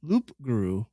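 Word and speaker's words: loup-garou: the loop to group Loop Guru Loop Guru Guru I like you the p is silent means wolf and grooming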